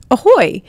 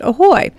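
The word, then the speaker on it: ahoj: And today it's going to be the Czech word for hello, which is pronounced ahoy. It's spelled A-H-O-J, but it's pronounced ahoy.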